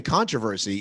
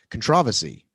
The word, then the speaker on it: controversy: it some controversy controversy how do you say it we say controversy english people usually say controversy i say controversy i don't think you're